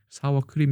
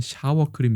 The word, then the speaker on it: 사워크림: 크림이라고 얘기 한다고 해요 사워크림 이라고 해야 되는데 이것을 잘못 발음하면 샤워크림 이 되기 때문에 오히려 왜 이걸